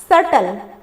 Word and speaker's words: subtle: आगे 7 नंबर देखिए, इसका स्पेलिंग पढ़ते हैं, SUBTLE, इसमें साइलेंट बी है। कैसे, इसका प्रोनाउंसिएशन जो होता है वो क्या है, सटल। SUBTLE का प्रोनाउंसिएशन सटल है, जिसमें हम लोग बी का कहीं उच्चारण नहीं कर रहे हैं। इस तरह से ये इस वर्ड में बी क्या है, साइलेंट है, जिसका अर्थ होता है जटिल।